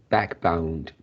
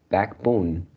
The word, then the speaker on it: backbone: This word, I hear you pronounce backbound. Isn't it? It is backbone.